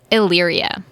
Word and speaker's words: Illyria: up at the shore of how about you pronounce the name of this town I got you it's Illyria Illyria crazy name that's again that's what my